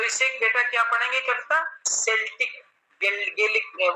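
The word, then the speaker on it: Celtic: चलिए, तो इसे बेटा क्या पढ़ेंगे कविता, सेल्टिक, गेलिक, वो सॉरी केल्टिक नहीं पढ़ेंगे, क्योंकि सी के बाद ई आया तो सा प्रोनाउंसिएशन होगा, तो सी के बाद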